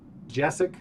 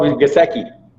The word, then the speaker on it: Gesicki: Who has a bigger game, Higbee or Jessic for Miami, if I'm pronouncing it right? Oh, Gesicki. Gesicki.